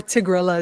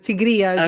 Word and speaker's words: Tigrilla: Yeah, my name is Tigrilla, or Tigrilla is fine, but Tigrilla is what it actually is.